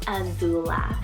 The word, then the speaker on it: Azula: a-z-u-l but i also have for a girl azula spell a-z-u-l-a azula super edgy but beautiful at